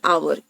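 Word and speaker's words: hour: next is और एन आवर क्योंकि आवर का उच्चारण औ से होता है जो स्वर ध्वनि है जो स्वर का ध्वनि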